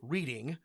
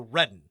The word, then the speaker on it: Reading: So a word that looks like reading is pronounced Reading or Redden if you are a Pennsylvania Dutch local.